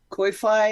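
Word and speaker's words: Ko-fi: me a cup of coffee funds koi fi or koi what is it called I think it is it's pronounced coffee but it's like k-o-f-i why yeah and uh occasionally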